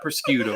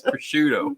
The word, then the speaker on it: prosciutto: It's not prosciutto then, is it? It's prosciutto.